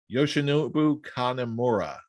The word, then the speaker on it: Yoshinobu Kanemaru: We've got Swerve in Our Glory versus El Desperado and I hope I'm pronouncing this right, Yoshinobu Kanemaru.